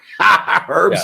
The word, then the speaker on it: Herb's: Herb's Here Now. Rambo, mark and edit. The H is silent, right?